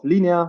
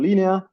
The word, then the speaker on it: Linea: advocate for Linea and you did pronounce it correctly so you obviously know uh